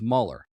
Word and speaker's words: Mueller: So you're like that's how he pronounces it. Muller because everyone that's why I call the um Matthew Broadick movie Ferris Bowler's day off.